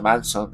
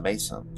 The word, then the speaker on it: Manson: En algún momento del podcast he dicho Manson, entonces he dicho Mason. Cada uno lo pronuncia como quiere porque he escuchado a muchos a muchas personas de habla inglesa que dicen Mon, mason.